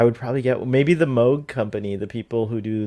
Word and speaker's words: Moog: Some people say Moog, but I'm pretty sure it's pronounced Moog.